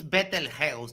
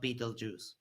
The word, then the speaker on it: Betelgeuse: And sorry to tell you, but it's Betelgeuse, not Beetlejuice. Yeah, when you move to the northern hemisphere, you can dictate how we pronounce things. Every American in here is like, it's Beetlejuice.